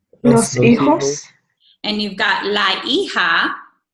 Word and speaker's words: hijos: And then we have the children, los hijos. Remember, the H is silent. So repiten, los hijos. Los hijos.